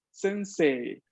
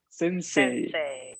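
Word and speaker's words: 先生: pronunciación y correcto es sensei sensei la y que aparece escrita y un idioma allí está únicamente para indicarme de que la e anterior se pronuncia larga entonces las palabras que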